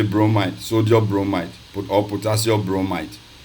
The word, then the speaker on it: bromide: You say potassium bromide. You end the bromine instead of say potassium bromine. You pronounce it as you end it with IDE.